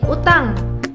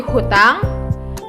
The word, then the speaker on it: utang: menjadi salah Contohnya seperti utang menjadi hutang pihak menjadi pihak utang itu sudah benar tetapi di beberapa kalangan menjadi tambahkan huruf H dan menjadi hutang dari pihak sudah benar menjadi pihak itu adalah beberapa pelafalan yang kurang tepat yang kedua ada pleonasme